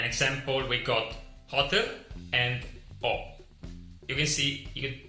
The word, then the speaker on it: ho: An example, we got hotel and O. You can see there is no pronunciation for the H, just O.